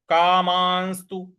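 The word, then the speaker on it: कामांस्तु: लगाना है हतार्थ कामस्तु कामस्तु म पर अनुस्वार है और उसके बाद आधा स है कामस्तु इस प्रकार से बोलेंगे हतार्थ कामस्तु गुरुनी गुरूनि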